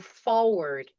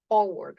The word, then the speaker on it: forward: Do you verify before you send before you forward a message? Forward with R. Forward.